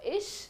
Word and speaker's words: ich: CH is pronounced as sh. So ish will be I.